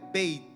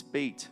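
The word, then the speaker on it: בית: segunda letra do The alfabeto hebraico second of the Hebrew é alphabet, Beit. it's bait.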